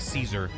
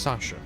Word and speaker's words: Seiza: It just sounds like I'm saying like Caesar. Hail Caesar! I can't do it! After a couple minutes of sitting with my legs folded under me, they start to go all tingly. It's pronounced Sasha. Close enough.